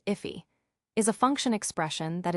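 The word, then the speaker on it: IIFE: Immediately invoked function expressions if an if pronounced iffy is a function expression that is executed immediately after it is defined.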